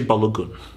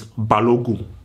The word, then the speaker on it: Balogun: So in America, you say Balogun. No. In Nigeria, you do not pronounce the N. It's Balogun. Balogun.